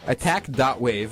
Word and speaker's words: ATTACK.WAV: bold it's really bold attack dot wave it's spelled wav like a wave file yeah like so that